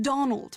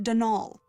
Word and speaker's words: Donal: Not Donald, mind you. There's no D at the end, so it's pronounced Denal.